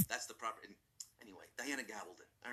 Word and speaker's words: Gabaldon: Americans pronounce it Gabaldon. Gabaldon. Gabaldon. In Spain, it's Gabaldon. That's the proper. Anyway, Diana Gabaldon.